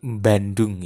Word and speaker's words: Bandung: logat logat bahasa Indonesia orang Jawa tampak dalam pelafalan B pada awal nama-nama kota seperti Bandung ya Banyuwangi itu tidak Bandung tidak Banyuwangi Tapi mbak ada m-nya itu logatnya orang Jawa Biasanya seperti itu bandung-banyuwangi atau